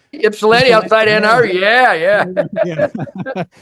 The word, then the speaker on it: Ypsilanti: I think he's from Yislip, or I forget how it's pronounced. Ypsilanti outside Ann Arbor.